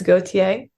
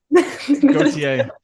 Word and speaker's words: Gautier: It's Gautier, but Gautier.